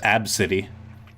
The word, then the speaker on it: ABCDE: feel bad yeah well this was funny that's pronounced AB City AB City which is a weird they do an item